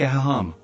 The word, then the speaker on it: aham: an open wide and the second is hum as in hummingbird together they sound like a haha practice using your settling